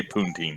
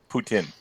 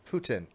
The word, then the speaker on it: Putin: and hear you say puntin I'm not saying puntin if it is I'm not mean say penguin and and it's pronounced Putin Putin okay with a tin like tin yeah the [ __